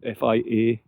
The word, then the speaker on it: Fiarach: Just before it hits the trees, we think that is Fiarach or Fiarach. That's Fiarach.